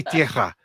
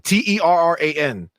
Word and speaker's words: Terran: It doesn't say Tierra. It says Terran. Terran. Oh, Terra. It's not Tierra. That's Terran. Right.